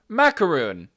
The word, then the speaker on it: macaron: british pronunciation hang on macaron oh god damn it macaron macaroon macaron mac or macaron macaron so macaren is closer to macaroon but the american pronunciation is my quran just passing by nugget